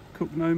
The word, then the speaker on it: Cogenhoe: That's how you spell it, C-O-G-E-N-H-O-E. It's pronounced Cogenhoe around these parts.